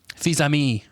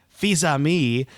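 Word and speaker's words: Fils-Aimé: Yeah, so in 2010, Nintendo of America president Reggie, help on pronunciation, Tyler? Fils-Ami. Fils-Ami commented...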